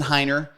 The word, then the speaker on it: Heiner: have a guest with us um heiner did I pronounce that correctly you sure did heiner and he has been investing in real estate